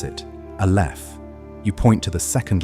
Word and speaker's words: aleph: You pronounce it aleph.